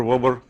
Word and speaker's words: Weber: You can choose the way you pronounce it. People call it Weber, Weber, Wober.